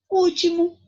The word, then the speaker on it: último: Último. Aqui eu tenho última, penúltima e antepenúltima. E último é o quê? A antepenúltima sílaba mais forte.